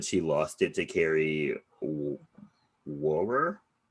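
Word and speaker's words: Wuhrer: Julian Anderson auditioned for the role of Denise, but she lost it to Carrie Wower. Like literally, that's how you pronounce her name. Wower.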